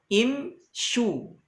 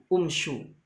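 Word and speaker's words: امشوا: Imshu. Ya, tidak dibaca umshu. Karena asalnya shinnya berharakat kasrah. Ya, jadi imshu. Karena asalnya imshiu. Maka tetap dibaca imshu.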